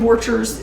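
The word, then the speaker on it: Borchers: talked about everything from human trafficking with kim vorchers who is the republican national committee woman and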